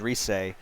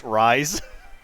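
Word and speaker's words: Rise: later there's a character her name is reese but it's spelled like r-i-s-e so like so like you'll think it's ryze reese's puff reese's box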